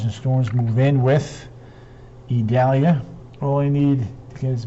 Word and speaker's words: Idalia: storms move in with idalia all I need is a bag of ice Janice Curry yep Italia i-d-a-l-i-a but it's pronounced with it like it's an E E Dahlia so there